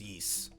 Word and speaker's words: Ys: oh i did it always always called yeast yeah it's yeast even though even though i know there's a y and an s and it's called geese or yeast also cyber uh the